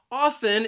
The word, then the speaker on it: often: frequently or many times it has two syllables and the stress is on that first syllable often the second syllable has that schwa sound which is an a